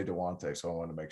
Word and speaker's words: Dejounte: I called him DeJounte the other day, and someone yelled at me. DeJounte. No, it's DeJounte. DeJounte Murray. I just want to make sure because I heard you say DeJounte, so I want to make sure.